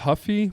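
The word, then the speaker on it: Ruffy: Green Mario ruy Huff so I think it's pronounced Huffy but yeah King green and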